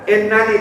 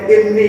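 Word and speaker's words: إني: Wa anni faddaltukum pakai taukid, tidak ada nun bikoyah di sini, langsung nunnya dua harusnya innani, tapi di sini dibacanya inni, didomelkan.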